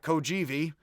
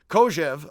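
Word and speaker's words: Kojève: It's not Kojivi. It gives me the heebie-kojivis. Kojev, I believe is how it is pronounced, was a Russian-born philosopher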